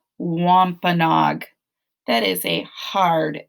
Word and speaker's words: Wampanoag: animals called upright walkers did you say wampanog or something close to it the name of the tribe is the wampanoag that is a hard